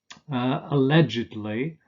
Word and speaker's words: allegedly: like alleged and marked these are pronounced allegedly and markedly sir if the main